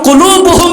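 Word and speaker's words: قلب: উচ্চারণ ভুল করেন না, কাল্ব না, কাল্ব মানে কুত্তা। উচ্চারণ কি হবে? কল্ব।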